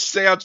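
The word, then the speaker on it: séance: Yeah, like, why do you have to do this seance before you can move out? Like, also, kid, you're saying it wrong. It's seance.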